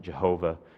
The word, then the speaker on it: Jehovah: some folks pronounce it Jehovah kind of taken out of the German roots with the J sound being replaced for the the Y sound there but you know this